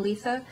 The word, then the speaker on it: Letha: He's very protective of his cousin Letha. And no, I did not mispronounce that. Apparently, she has pronounces her name with a lisp.